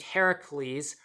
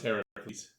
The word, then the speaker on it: Heracles: a fish-ish creature named Heracles, whose name is being pronounced correctly, by the way. I am not butchering the pronunciation. This is how the creature's name is pronounced.